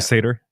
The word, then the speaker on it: satyr: And they say it's basically the energy of a mischievous, satyr? How do you say that? Satyr.